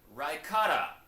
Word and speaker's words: Rykata: It is pronounced Rykata.